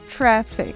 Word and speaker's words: traffic: Traffic. Aqui o som da letra A também é um som de vogal no meio do caminho entre o som da letra A e o som da letra E aberta.